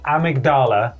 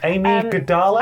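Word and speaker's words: Amygdala: think Amy G no I can pronounce this for you it's a blood boss amigdala thank you PLS is amigdala please cool thank you I was baffled by that Amy Gala I was like what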